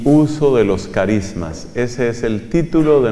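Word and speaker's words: χάρισμα: carisma viene del griego en griego es carisma se escribe con una letra que suena como la jota española carisma carisma es la misma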